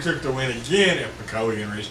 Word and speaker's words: Pukekohe: Yes, if you look at it, it's Puco, but it's actually said Pukekohe. Puco? Yeah. Right there. Where is it? Right there. Puco. Puco. But it's pronounced Pukekohe.